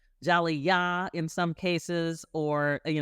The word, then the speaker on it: jali: just for our listeners it's spelled j a l i yes yeah is a yeah it is a West African word for Storyteller Jal yah in some cases or